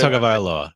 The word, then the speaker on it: Tagovailoa: Tua's pronounce enough. his That's Tua good. Tagovailoa.